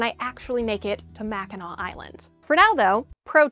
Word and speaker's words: Mackinac: the Anesab language, and they're all pronounced Macheno, including the bridge.